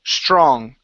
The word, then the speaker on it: strong: um the word strong instead of strong straw okay sure give me a c h r sound str strong there you go good good